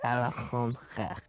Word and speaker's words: Alexandre: Alexandre.